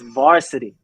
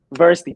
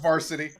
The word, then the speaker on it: VRSTY: __ ] said that it's varsity not adversity please please stop saying this it drives me crazy oh no you up it's pronounced varsity you up